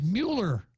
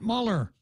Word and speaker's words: Mueller: the Democratic Party anyhow the proper pronunciation of that name is Mueller not Muller so Mueller versus Trump